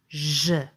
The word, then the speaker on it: Ž: So your tongue is pretty much in the same place as in sh. Just moved slightly to the back. Try pronouncing with me. Ž.